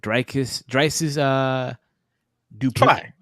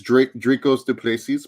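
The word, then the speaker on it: Dricus Du Plessis: butcher the name here, Drysis Duplessis. Drysis Duplessis. Terrible. Duplessis. Please. It's Dracos Duplessis, but good, close enough.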